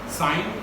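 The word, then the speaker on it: sine: साइन, ये सिन नहीं पढ़ना, इसे इंग्लिश वर्ड सिन मतलब पाप ऐसा नहीं पढ़ना. साइन SIN साइन प्रोनाउंस करना.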